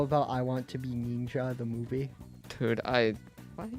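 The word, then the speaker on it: Neenja: I Want to Be Ninja? Ninja. N-E-E-N-J-A. I want to be... Spell that again? N-E-E-N-J-A. Like if you're saying ninja in a racist Chinese accent.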